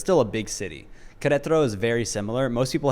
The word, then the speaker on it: Querétaro: Do you want to give it a shot, the pronunciation of the name? Yeah, sure. So where I moved is called Querétaro. And Querétaro is like, honestly, it's actually, have you ever been to Chiang Mai?